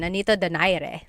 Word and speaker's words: Nonito Donaire: So our first poll here is going to be Manny Pacquiao versus Nonito Donaire, or is in the Tagalog pronunciation, Nonito Donaire.